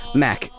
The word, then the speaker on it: Mac: Mac. Mac. Yeah, it's one syllable.